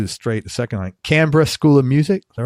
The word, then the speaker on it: Canberra: thank you capital brilliant the Australians say Canberra Canberra he grew up in